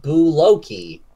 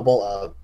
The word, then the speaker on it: bull oak: The hardest wood is said to come from the Australian bulloki. No, bull oak. Sorry, it's not pronounced. It just says pronounced bull oak in parentheses right after I said it wrong.